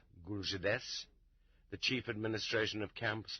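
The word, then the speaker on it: GULZhDS: a new autonomous archipelago called gulzids pronounced guljedes the chief administration of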